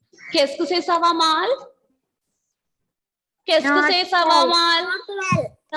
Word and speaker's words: mal: Okay, ending letter L will not be silent. Here we will pronounce the L.